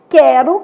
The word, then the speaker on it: quero: Então, a gente tem quero, que o U é nulo, sequência, que o U é semivogal, e averigue, que o U tem um som forte, né?